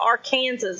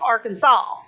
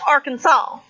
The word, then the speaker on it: Arkansas: kansas yeah i think some people call it our kansas or something but it's arkansas well no it's spelled our kansas i know but it's pronounced arkansas unless you go to the galapagos yay don't